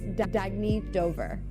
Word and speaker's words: Dagny Dover: Oh, it's pronounced Dagny Dover. Dagny means new dawn.